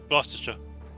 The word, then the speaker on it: Gloucestershire: Gloucestershire. Thank you. You don't pronounce all the letters.